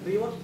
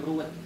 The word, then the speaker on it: reward: Nah, kita tadi tidak menghitung bonus-bonus harian, mingguan, bulanan, hanya reward Ya. motor, mobil, Nah. dan rumah. Ingat Bang, reward bukan ruwet. Ingat teman-teman, bukan ruwet, tapi reward. Jangan salah arti, jangan salah pengucapan.